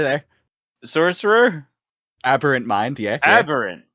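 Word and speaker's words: aberrant: sorcerer aberant mind yeah aberant not erant aberant it's close enough you got the the first last syllables my warlock class is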